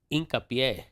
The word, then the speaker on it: Hincapié: It's like Incapie. It's hincapié.